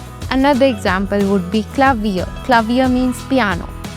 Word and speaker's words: Klavier: Klavier means piano. I don't say it like Klavier.